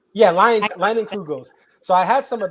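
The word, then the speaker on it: Leinenkugel's: I can't pronounce it. We have it here. Lincoln. It starts with an L. Lincolnbach. Leinenkugels. Yeah, Leinenkugels.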